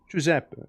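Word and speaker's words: Giuseppe: Jeppe, like uh G I U S E, right? Italian name, right?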